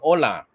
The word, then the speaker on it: hola: Hola or hola, hola. Silent H in Spanish.